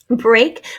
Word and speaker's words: break: Break, we have a long A sound spelled in a very unusual way with the EA here with the K at the end.